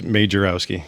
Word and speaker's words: Majerowski: name but it's like it's majorowski it's just how it looks it's made jarrowski yeah okay yeah thanks